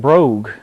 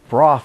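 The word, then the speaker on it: Brough Superior: of people mispronounce it too they call it brogue but broth is the proper pronunciation this is also the bike that law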